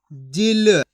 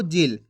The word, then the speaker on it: जिल: दोस्तों इसी तरीके से पढ़ना आपको, जिल। खींच के नहीं पढ़ना, जील। अगर आप खींच के पढ़ दोगे जील तो इस तरीके से बड़ी ई की मात्रा का उच्चारण हो जाएगा।